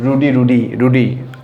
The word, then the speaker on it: ruddy: আমি আপনাদেরকে জিজ্ঞেস করি সবাই বলবেন রুডি, এরকমই বলবেন। যাই হোক, এটার উচ্চারণটা রুডি না, এটার উচ্চারণটা হচ্ছে রডি। তাহলে রডি মানে হচ্ছে লুকিং রেড অ্যান্ড হেলদি, দেখতে লাল টকটকা এবং স্বাস্থ্যবান, তাকে বলা হয় রডি, নট রুডি, রডি।